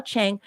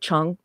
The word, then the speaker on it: Wah Chang: and special effects genius wah chang or chong depends upon how you want to pronounce that because it is an a but some people pronounce it chong accepted the challenge of